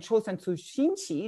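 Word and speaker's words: 朝鮮通信使: But my focus here is actually on the so-called documents on the Chulsan Tongshinsa. This is the Korean pronunciation, and Chulsan Tsushinchi, Japanese pronunciation.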